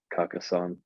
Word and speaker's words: Carcassonne: Well, that's how you say it, like the English way, Carcassonne. just like Carcassonne.